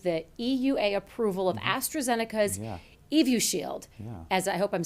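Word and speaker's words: Evusheld: talking about yeah so the astrazeneca product evu shield as it's pronounced is a combination of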